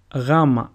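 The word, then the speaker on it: Γάμμα: Gamma and not gamma like most people say. It is pronounced gu, and a sample word is gata, which means cat. Gamma sounds exactly like the way the letter W is pronounced in the word woman.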